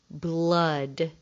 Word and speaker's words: blood: the rules is because they rhyme with mud and crud and bud and spud but they're spelled differently the first one starts with B L bull blood blood it sounds like it should be AUD but it's not instead blood is spelled